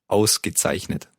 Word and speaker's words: ausgezeichnet: Ausgezeichnet. Let's take it syllable by syllable. The first word, the first syllable? Aus. Gezeichnet. Zeichnet. Ausgezeichnet. Yeah, very good.